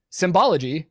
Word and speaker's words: symbology: In Nazi Germany, the Nazi Party, the SA, and the SS all used Sonnenrad symbology, pronounce that S as a Z there, symbology at times, which has led neo-Nazis and other modern white supremacists to adopt such images.